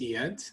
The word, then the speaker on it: Eyad: bit about you first okay my name is yet and dentist and I'm originally from Syria and